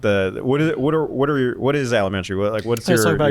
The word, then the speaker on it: Alementary: I still got it wrong. Elementary. Alementary. You're Like 95% elementary, there. but with ale.